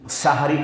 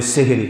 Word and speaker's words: সাহরি: এবার দেখুন সাহারি খাওয়া সম্পর্কে কি? যেটা আমরা গ্রামের ভাষাতে বলি সেহরি। কিন্তু না অরজিনাল উচ্চারণ সাহারি।